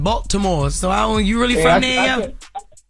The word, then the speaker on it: Baltimore: You pronounced every word and every letter in the word, yo. Oh, y'all don't pronounce every word? What is it? Baltimore. Baltimore? Like B-A-W. Baltimore. B-I-M-O-R-E. Baltimore. Yeah, but I wanted to